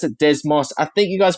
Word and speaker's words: Desmos: So we pronounce it Desmos. I think you guys pronounce it Desmos.